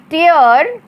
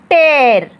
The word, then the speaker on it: tear: एक हो जाता है टीयर, इसका उच्चारण होगा टीयर, और इसका मतलब होता है आंसू। जी हाँ, ये आप ध्यान से सुनिएगा, एक ही शब्द के दो अलग अलग मीनिंग्स आते हैं और दोनों का उच्चारण भी अलग है।